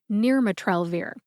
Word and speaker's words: nirmatrelvir: much if you're listening her pronunciation is near matrell I had a dilemma